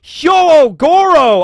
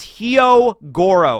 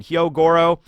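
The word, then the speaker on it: Hyogoro: setup but we got Yo Goro I always mispronounce his name I always say yo Goro and it's like that's wrong and it's like it's heo Goro all right fine Hyo Goro he's a character we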